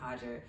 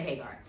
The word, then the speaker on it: Hagar: She pronounced it Hajger, but a lot of people say Hagar.